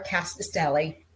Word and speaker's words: Rkatsiteli: um so we're here to talk about our cast Deli did I say it right you did you